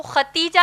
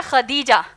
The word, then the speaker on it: خدیجہ: ہم عام طور پر ان کو ختیجہ کہتے ہیں، دراصل نام ہے خدیجہ جس کے ہجے ہیں خا